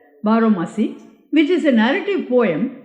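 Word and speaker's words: baromasi: aomasi barasi perhaps I don't know how to pronounce this Bali word b a r o m a s i barasi Bari correct barasi which is a narrative poem sung mainly by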